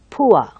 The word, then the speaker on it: poor: So you have that kind of ua sound over there. So you should say pure, pure, and sure, sure, poor, poor.